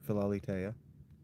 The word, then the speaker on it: Philalitheia: Uh I say my name, but you're asking me how to pronounce Falitea. Ben Hunter. I pronounce it Falitea.